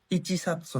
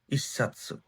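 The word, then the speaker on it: 一冊: এবার বই বা নোট, এরকম বই বুঝাইতে নান সাতসু দেশকা, কয়টা, তাহলে একটা হইলে ইচিসাৎসু না, যেমন এই যে চ আর সি, দুইটা চ উচ্চারণ একসাথে হয়ে গেছে, আবার পাতা লাগাই দিবেন ইসাৎসু, মানে এক।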